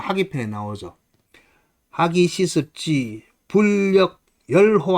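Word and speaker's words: 說: 기쁘다 할 때는 열 의미상 자 어디 가서 남한테 자기 주장을 밝히다 할 때는 세, 그다음에 일반적 그냥 말을 할 때는 설이라고 세 가지로 읽는데 설보다는 여기서 기쁘다는 의미로 쓰였기 때문에 열이라고 읽어야 돼요.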